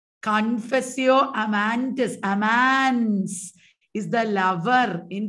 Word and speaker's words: Confessio Amantis: Zuma said it right. YouTubers, you are also saying it right. It is Confessio Amantis. Amans is the lover in Confessio Amantis.